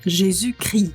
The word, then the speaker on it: Jésus-Christ: Но обратите внимание, что если Иисус просто, то это Крист, Т произносится, но если его название полное, то оно произносится Jésus-Christ, без Т.